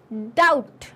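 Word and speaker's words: doubt: एस हिम इसमें एन डाउट डाउट इसमें बी और विसल विसल में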